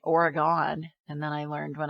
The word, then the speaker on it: Oregon: for all those years, I used to say Oregon, and then I learned when I lived in LA that it's Oregon. So I'm glad going to hear that Portland, LA gets it right. Oregon.